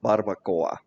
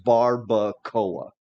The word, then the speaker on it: barbacoa: Have you ever heard of barbacoa? Jesse, how do you even spell that, mate? Like, let's We break it start there. down. So a phonetic way to pronounce it is barbacoa.